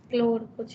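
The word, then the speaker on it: choleric: हाँ, मैं प्रोनाउंसिएशन भूल रही हूँ। सम सी एच क्लोरिड समथिंग, CHOL, मतलब क्लोर कुछ है, मैं अभी बताती हूँ।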